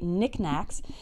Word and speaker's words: knickknacks: a funny word okay you'll notice that the K at the beginning of Nick and knack are both silent so we say knickknacks knickknacks are just small